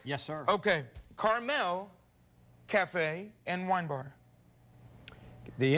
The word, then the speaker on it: Carmel: of this restaurant is carmel cafe and wine bar it's not the little candy at all it's like the place in california terry ryan am i correct yes sir okay carmel cafe and wine bar